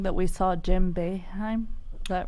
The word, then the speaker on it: Jim Boeheim: I'm told to tell you, and I'm probably going to say his name wrong, that we saw Jim Boeheim.